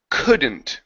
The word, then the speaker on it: couldn't: This is couldn't. Okay. Make sure to pronounce the negative there. So couldn't. Couldn't. Okay. All right. Instead of ku, open your mouth just a bit.